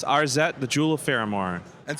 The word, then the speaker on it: Arzette: So, firstly, because I pronounced it several ways, your brand new game, how is it pronounced? It's Arzette, the Jewel of Faramore.